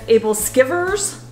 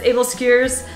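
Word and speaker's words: æbleskiver: making able skiers which if you look at it you would want to phonetically sound it as able skivers because that's how it's spelled that's able skewers and basically what it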